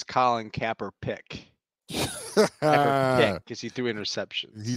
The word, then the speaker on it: Kaepernick: You said his name wrong. It's Colin Kaepernick.